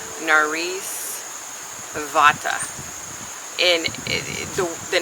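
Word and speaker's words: Bhatta: one that told me how to pron properly pronunciate narice vat and the the name bot is usually BHA a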